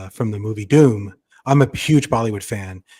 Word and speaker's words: Dhoom: If you listen to the song Doom Machale, it's from the movie Doom.